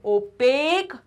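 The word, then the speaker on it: opaque: कहते हैं ओपेक material देखो इसको प्रोनाउंस कैसे करेंगे ओपेक मटेरियल आई बात समझ में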